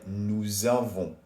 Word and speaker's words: nous avons: So what they're saying is basically, usually the S at the end of nous is silent. However, because avoir starts with a vowel, we have to do la liaison. So it sounds like nous avons.